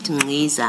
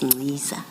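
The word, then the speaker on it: Nciza: And then in the spirit of the chair of corrections, you said Ngiza. I now know it's Ngiza.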